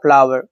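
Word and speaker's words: flour: आटा गूंद लो, आटा गूंद दो, बोलते हैं ना आटा गूंद लो, इसके लिए बोलेंगे need the फ्लावर, need the फ्लावर, इसको फ्लावर ही पढ़ते हैं आटा को भी, और यहाँ पर के साइलेंट है नीड में।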